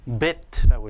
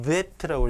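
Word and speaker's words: בית: 두 번째 자음은 이름이 베트라고 읽습니다. 한번 따라해 보세요. 베트. 그리고 음가는 비읍. 어떨 때는 여기 점이 이게 이제 나중에 중세 시대에 만들어진 건데 점이 없을 경우에는 영어의 V처럼 Vet라고 읽기도 하지만 어쨌든 우리말로는 구분할 수가 없고 비읍으로 해야 됩니다.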